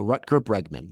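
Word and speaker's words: Rutger Bregman: Ruter Bregman.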